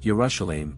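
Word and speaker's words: ירושלים: the center with the inscription Jerusalem in Hebrew pronounced as yerusalem above this area retains the name of the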